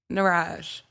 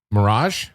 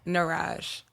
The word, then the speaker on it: Niraj: Nirage. Mirage. Nirage. How do I spell that?